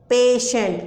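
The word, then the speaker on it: patient: Station, exception, notion, lotion, motion, पेशेंट। ओ, पेशेंट की spelling तो बहुत सारे बच्चे गलत लिखते हैं,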